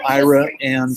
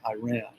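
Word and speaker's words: Iraan: a couple um named ira and something and they basically founded this town they're probably involved in oil but it's pronounced ira and texas not iran but we have just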